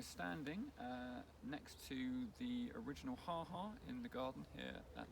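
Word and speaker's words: ha-ha: landscape garden was the ha ha maybe should be pronounced haha because it's meant to be an expression of surprise as you come across it walking I along the lawn and then you suddenly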